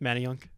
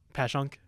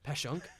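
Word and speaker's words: Passyunk: And I don't know how to pronounce the area, but it's like it's more South Philly. Manunk. No, it's like Panuk. Pashank. Pashank.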